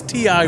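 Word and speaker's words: Ti West: should email ty west is that how you say his name is it thailand chris after the movie chris is like who's t.i wes i said that yeah it's just ti yeah he's now directing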